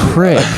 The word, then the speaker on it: creek: Yeah, I say crick instead of creek. That's how small where I'm from is. Unless I see it in print, then I say creek because that's how it's spelled. Or This like, happened to us. there's a pitcher for the Giants named Doug Creek, and I would say that creek, but still say crick for a creek.